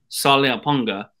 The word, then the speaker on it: Saliapaga: Saliapaga is how you say it.